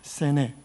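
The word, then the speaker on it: סנה: 불로써 임하십니다 자 여기서 히브리어로이 떨기나무를 세뇌라고 합니다 세네 한번 따라 해보실까요 이것이 바로 떨기나무의 히브리어 발음입니다 그런데이 세네와 우리가 지금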